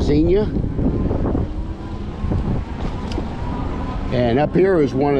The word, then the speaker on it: Xenia: I'm at now a little town called Xenia Xenia is how it's pronounced a lot of people like to call it Xenia but it's Xenia and up here is one of the hubs